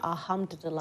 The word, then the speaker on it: Alhamdulillah: Alhamdulillah.